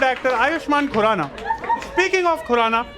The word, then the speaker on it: Khurrana: Speaking of Khurrana, it rhymes with the word Purana.